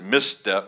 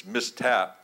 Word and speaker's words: Mistap: I pronounced it Misstep, but it's Mistap.